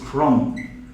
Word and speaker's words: crumb: So is it crumb? When you're reading it, you read like this: crumb.